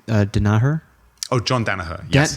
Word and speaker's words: Danaher: I can't pronounce his first name. Danaher? Oh, John Danaher. Yes. John Danaher.